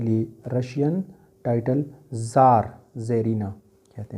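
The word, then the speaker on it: czar: लिए अब यह है यह वर्ड जार इसमें सी जो है ये साइलेंट है ठीक है अब ये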